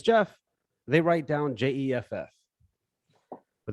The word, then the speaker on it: Geoff: even in the country it's british english spelling i still hear people read it wrong all the time or when i say my name is jeff they write down jeff